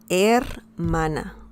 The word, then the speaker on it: hermana: in spanish um in spanish actually the letter h doesn't have any sound so don't worry about any sound because it's mute la hermana la er mana okay so that's the